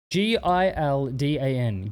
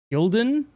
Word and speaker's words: Gildan: Gilden. There's no U in it. It's Gildan.